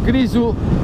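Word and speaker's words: Grisù: Il mio amico Grisu, che su Instagram trovate come Grisu MLS, Grisu, si arrabbia perché non mettiamo mai l'accento sulla U.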